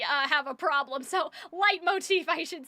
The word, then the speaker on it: leitmotif: I mean I I like um light motif, right? Light motif. There's light motif. You can say lit motif, but if you say lit motive, that's where we uh have a problem.